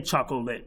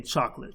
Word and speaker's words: chocolate: want to break up, say chocolate, but we don't say chocolate. We say chocolate. So that would be 2. So if you are using chocolate, be sure to know that is a 2-syllable word in terms of how you speak it.